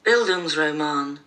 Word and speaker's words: Bildungsroman: google and i had to get it to pronounce it for me and it is buildings roman which is a novel dealing with one person's